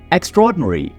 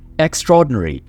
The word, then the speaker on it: extraordinary: गैर मामूली, extraordinary, extraordinary. आपने इसको कभी भी एक्स्ट्रा एंड ऑर्डिनरी नहीं बोलना. ये दो अलग अलग लफ्ज नहीं है, ये एक ही लफ्ज है जिसको आप प्रोनाउंस करेंगे extraordinary.